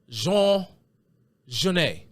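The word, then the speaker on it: Genet: of an anglophone pronunciation if you look at it and you try to pronounce it phonetically you would probably pronounce it Jean ganette Jean ganette but the popular pronunciation of this man's name is Jean Jan who is Jean Jan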